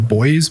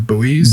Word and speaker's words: buoys: to pronounce this word at least in Australian we always call them boys but like I feel like in America they call them buoys buoys yeah yeah so